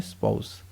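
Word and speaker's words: spouse: आप पाउच मत बोलना, आपको क्या बोलना है, प्रोनाउंस क्या करना है, स्पाउस।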